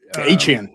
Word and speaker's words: Etienne: Of course, that went down the drain as soon as Travis Etienne, or that's right, he's changed his last name now to pronounce it. Achane, yeah.